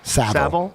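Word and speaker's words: Savile: Saville. Yeah. Yeah, Jimmy Saville.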